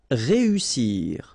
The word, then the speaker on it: réussir: Then éviter, établir, réussir. Okay, so here, vowel, second vowel here, and then double S. So in that case, you've got to pronounce it like a real strong S.